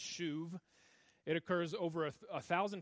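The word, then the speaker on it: שוב: It's pronounced shuv.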